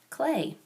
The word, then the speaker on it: Klee: book about Paul clay Paul clay pronounced clay was born near Bern